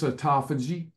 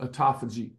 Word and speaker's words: autophagy: what term I can't remember it's a it's autophagy alutto a it's a spelled like alutto autophagy autophagy and what that means is uh you're